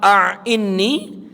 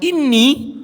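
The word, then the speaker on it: أَعِنِّي: Allahumma a'inni dengan Allahumma inni itu jauh beda. Kalau dibacanya Allahumma a'inni, dia merasa lemah.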